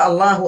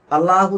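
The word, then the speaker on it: الله: ഇലാഹും കൂടിയതാണ് അൽ ഇലാഹ് പക്ഷേ ഉച്ചാരണത്തിന്റെ എളുപ്പത്തിന് വേണ്ടിയിട്ട് ഇ എന്നുള്ളത് കളഞ്ഞു പോവുകയും അങ്ങനെ അള്ളാ എന്നുള്ളത് ഉച്ചാരണത്തിൽ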